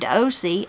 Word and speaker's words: Ocie: put the names as they're pronounced if I butchered those. Tammy says, I had a granny named Ocie, O-C-I-E, O-C, and a grandpa named Beamer, B-E-M-E-R, Beamer.